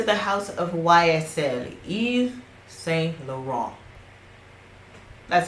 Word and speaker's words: Saint Laurent: to venture into the house of YSL is Saint Laurent that's how you pronounce it say after me I'm just kidding